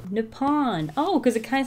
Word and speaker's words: Nippon: Well, let's figure out how you pronounce it. Ready? Let's listen. Nippon. Nippon.